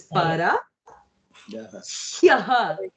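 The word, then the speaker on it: परह्यः: Yes, It is like Sayyo. like here. Like this I say like here. It's like here. Sounds like here.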